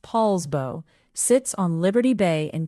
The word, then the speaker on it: Poulsbo: Poulsbo, pronounced Poulsbo, sits on Liberty Bay in Kitsap County and it is the smallest of the four cities in Kitsap County.